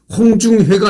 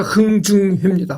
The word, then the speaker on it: 흥중회: 홍중회가 아니라 흥중회입니다. 흥중회.